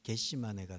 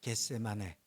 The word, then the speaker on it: 겟세마네: 겟세마네를 발음을 잘못하면 겟시마네가 돼요. 그러니까 발음을 잘 하셔야 돼요. 겟세마네, 겟시마네 이러면 안 돼요.